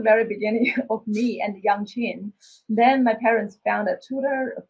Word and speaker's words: yangqin: My instrument is called Yangqin.